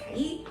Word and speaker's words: Kai: Hello, my name is Kai, spelled like Kai, but with the accent over the I, so it's Kai.